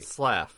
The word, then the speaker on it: Slaff: Slaff. Slaff. It's one syllable.